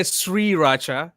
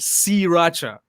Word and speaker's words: sriracha: say i says okay i used to say sriracha s-a-r-i but apparently it's just c raja i i think so i think if i'm if i'm not mistaken but i think that's that's how you actually say it from that pronunciation but i don't know i was adding an sh i was adding an sh to that okay it looks the